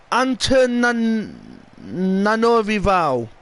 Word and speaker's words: Antananarivo: Antananarivo. What? Wow. I didn't know it were pronounced like that.